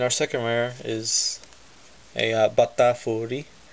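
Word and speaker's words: バタフリー: And our second rare is a Batafuri. I love saying this name, especially the first syllable. Bata. It's like saying butter, but how the Japanese would say it.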